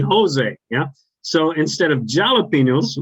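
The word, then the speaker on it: José: a mexican chili yeah it's spelled with a j but in spanish the j and the h are opposite so if you see uh jose a-j-o-s-e it's actually jose yeah so instead of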